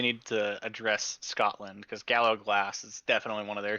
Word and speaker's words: Gallowglass: I feel like they need to address Scotland, because Gallowglass is definitely one of their things, and I know Scottish people pronounce it that way.